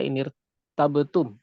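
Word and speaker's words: إِنِ ارْتَبْتُمْ: Dan kemudian tadi saya mencontohkan lainnya adalah inirtabtum. Inirtabtum. Di sini ada ra yang kemudian juga ditipiskan. Nah, kita akan sedikit memperluas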